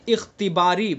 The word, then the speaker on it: اختباری: Number 2 وقف اختباری با کے ساتھ، وقف اختباری.